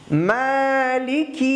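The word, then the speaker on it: مَالِكِ: আর্রহমানির রহিম, মালিকি ইয়াউমিদ্দিন, আবার বলি, মালিকি ইয়াউমিদ্দিন, মালিকি, মা এক আলিফ টান, লিখি দ্রুত, এখানে কোনো টান নেই, মনে রাখবেন হরকত এক জবর এক জের এক পেশ, এখানে কোনো টান হবে না।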